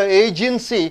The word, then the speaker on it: agency: Agency, A, you have to stress.